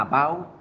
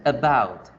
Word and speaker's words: about: Decimos la A, about. What are you talking about? Y resulta que esa no es la pronunciación correcta. Se pronuncia about, about, about, about.